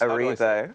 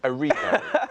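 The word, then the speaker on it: Cynthia Erivo: He has been cast in Jesus Christ Superstar as Judas against Cynthia, surname I'm going to mispronounce. Erivo. Erivo.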